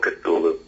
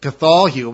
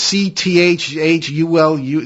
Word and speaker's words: Cthulhu: I grew up calling it Cthulhu, but it's Cthulhu, something like, I don't know.